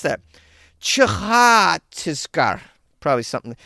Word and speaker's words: Chhattisgarh: Chhattisgarh. Probably something. It's probably a chh. The C-H and then the H right after the H is for the H after the Ch. Chhattisgarh.